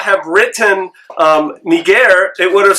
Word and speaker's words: Niger: actually translated the word but here's the deal nageire means black in greek and that's the truth